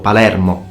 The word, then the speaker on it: Palermo: dialect, because I'm from Palermo, okay, or Palermo, like it should be pronounced.